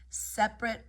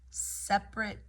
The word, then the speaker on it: separate: Here you've got a syncope word where the non-stressed non-stressed syllable is just either deleted or you can say it as a 3-syllable word. Separate, separate, or separate.